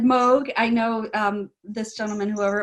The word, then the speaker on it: Moog: thank everyone here who has who has said mogh I know this gentleman whoever it was James I guess wavered because sometimes people pronounce it Moog and actually there's part of an you know